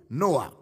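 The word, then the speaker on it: νοέω: N-O-E-O, noa. Let's see how it was used in the New Testament. The word noa or understand in the New Testament books.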